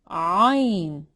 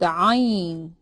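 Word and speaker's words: ع: This is a unique sound to Arabic. It's ah. It's hard to pronounce, but you'll get there. It's ah, ah. You pronounce it from your throat. We don't have an equivalent sound to it in English. Ah, ah. But I'm going to refer to it as an apostrophe with an A.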